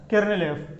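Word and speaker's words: ker f: We write KER small f and we pronounce it as kernel f, kernel of a function.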